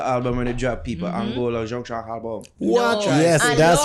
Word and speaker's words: Anloga: Where they tell Angola, I was like, no, it's not Is it Angola. Man. It's Anloga. Anloga Junction album.